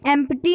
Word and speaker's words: empty: okay empathy empty why but don't do this mistake to pronunciate it as empty okay empty name yeah so you will pronunciate this at empty so casey apparently empty p will be silent it will be empty the bottle is empty the bottle is